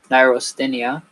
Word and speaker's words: neurasthenia: So it's pronounced neurasthenia, an ill-defined medical condition characterized by lassitude.